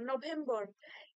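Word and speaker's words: November: আছে নভেম্বর নভেম্বর নয় দেখুন আমরাও একসময় আমরাও বলতাম নভেম্বর কিন্তু এটা একচুয়াল প্রোনাউন্সিয়েশন হওয়া উচিত নভেম্বর নভেম্বর একটুখানি মানে আপনি যেরকম ধরুন ইংলিশে অনেক সময় বলি না ভ্যাম্পায়ার সেরকম নভেম্বর নভেম্বর ঠিক আছে এই যে ভি এম টার উপরে একটা স্ট্রেস থাকতে হবে নভেম্বর ঠিক আছে জানুয়ারি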